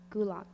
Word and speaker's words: gulag: a noun gulg g u l a g gulock that's correct demotic can you pronounce it again please demoic give me a